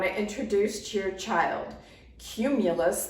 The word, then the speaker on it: cumulus: introduce to your child cumulus begins with a hard C Sound cooker and cumulus clouds